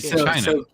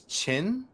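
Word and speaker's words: Qin: okay like on your the bottom chin like China q-i-n is chin there's no U where you see you in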